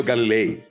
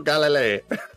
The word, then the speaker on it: Galilei: Galileo Galilei. Galileo Galilei.